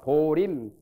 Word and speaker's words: 보임: 하나씩 보냅니다 발음을 임 그런데 보통 절집에서 보림합니다 보임이라고 안 하고 보리 하듯이 보젠자대로 안 하고 그와 같이 이것도 보임이 아니라 보림 절에서는 보림이라고 발음해요 견성하고 그 다음에 보림하는